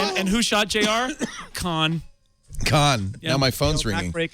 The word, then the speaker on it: Khan: with you that you did a one-word answer of Khan and just simply said it as though it was one syllable. Khan, you know, I'm not